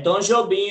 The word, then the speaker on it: Tom Jobim: É Tom Jobim a pronúncia.